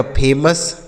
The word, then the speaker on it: famous: ठीक है, उसके बाद FAMOUS, तो यहाँ यस है तो भी हम इसका उच्चारण आ के रूप में करेंगे। इसे पढ़ा जाएगा फेमस।